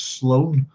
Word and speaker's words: Sloan: You know, as my own name is an anglicisation of an old Irish name, but my name, which is Sloan, would be Sloan, and it would be Slaughain is how you used to pronounce it.